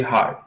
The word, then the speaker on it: hard: Então, você finge que vai falar, mas não fala. Hard. Hard. Faz o D na sua boca, só que não emite som.